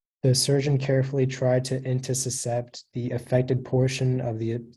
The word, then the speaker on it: intussuscept: Yeah, so the only pronunciation is intussuscept.